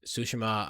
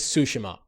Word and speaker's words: Tsushima: finished goes to sushi sushima um the iki island expansion i i the the correct way to say it is tsushima and i am trying